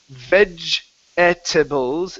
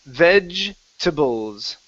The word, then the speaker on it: vegetables: it that way so instead of saying veg at Tibbals it's vegetables so the e that second e we forget about it so it's vegetables vegetables